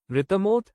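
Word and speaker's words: רתמה: पहला शब्द है रितमोत या एकवचन में रित्मा।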